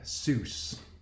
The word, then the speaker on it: Seuss: It's a guy named Doug Seuss. Not like Dr. Seuss, but pronounced the same way.